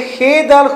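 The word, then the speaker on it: خود: बात यह है ये खे दाल खुद जो है ना ये गलत है, असल है खे वाओ, वाओ साइलेंट और सा दाल खुद, इस तरह खुद बनता है.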